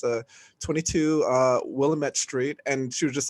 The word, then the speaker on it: Willamette: have here uh you said willamette it's willamette okay i was just like